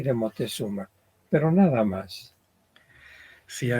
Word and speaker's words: Moctezuma: Aquí se llama la pieza Moctezuma, pero también lo encontramos como Montezuma con N, sí. y actualmente en nuestra época le decimos Moctezuma, enfatizando la C.